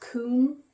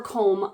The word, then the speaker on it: Coombe: This is the, I want to say it's pronounced Coombe or Coombe. It's C-O-O-M-B-E sweater.